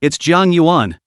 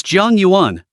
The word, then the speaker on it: Jiang Yuan: Did you mispronounce it? It's Jiang Yuan. It's Jiang Yuan.